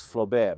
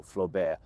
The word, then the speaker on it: Flobert: a certain Nicolas Flobert, often read in the Italian way as Flaubert, but he was very French, so Flobert.